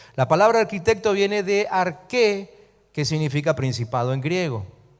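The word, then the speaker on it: ἀρχή: palabra principado en griego es la palabra arche que se pronuncia ar que y que significa principio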